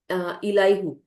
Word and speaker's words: Elihu: used to call him Elihu or Elahu, something like that. So I don't know if I'm pronouncing correctly. It is Elihu. So Elihu or Elihu, something like that. Just like Allahu, as people do call.